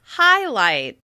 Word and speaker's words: highlight: The word we're going to explore is highlight. Highlight. As you can hear, the word highlight has the same vowel sound on both syllables. However, one is clearly stressed and the other is a little less obvious.